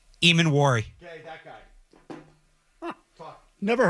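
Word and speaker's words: Emmanwori: How's it pronounced? Eamon Wari.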